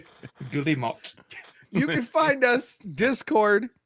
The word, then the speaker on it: Guillemot: Why best Gumut? Guillemot.